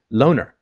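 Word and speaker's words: Loughner: is Jared Lee now I've heard a bunch of pronunciations lner louner it's l o u g h n r which is interesting because if you spell it like do with the o u g silent actually becomes loner which is actually I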